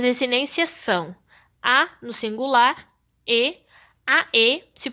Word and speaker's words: ae: O substantivo que estiver no nominativo terá sua terminação em a, quando estiver no singular, e em ae, que se pronuncia e, quando estiver no plural.